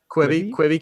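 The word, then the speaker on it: Quibi: I don't think he's gonna go full like Queeby cabinet. Is that how you pronounce that? We say Queeby? Quibby. Cabinet. I don't think he's gonna go full Quibby cabinet.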